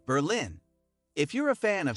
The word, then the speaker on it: Berlin: the name Berlin pronounced Berlin with emphasis on the first syllable derives from a contraction